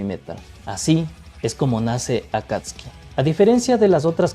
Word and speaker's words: Akatsuki: Bueno, me ha llamado la atención la forma de pronunciarlo, lo de Akat Akatsek. Akatski sin pronunciar la U. Vale, de acuerdo. Venga, pues será la pronunciación correcta, digo yo.